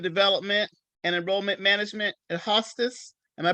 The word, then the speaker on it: Hostos: president of student development and enrollment management at hostas am i pronouncing that correctly yes hostos community college yes hostess community college and uh